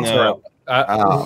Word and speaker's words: mozzarella: Mozzarella. Who here took 7.5 years of Italian? Well, you would know it's the most phonetic language, and you pronounce that last A.